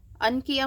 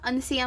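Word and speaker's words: uncia: आहे तर पॅन्थेरा अनकिया आता अनकिया म्हणू शकता किंवा अनसिया म्हणू शकता तर यु एन सी आय ए असं स्पेलिंग आहे अनकिया किंवा अनसिया वैज्ञानिक वैज्ञानिक नाव लक्षात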